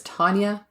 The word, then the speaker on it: Taunja: She would be identified as Tanya Bennett, and that's spelled Taunja, whose family had reported her missing the day before the body was found.